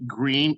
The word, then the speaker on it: Greene: Greene is one. That's Greene with an E, but the E is silent.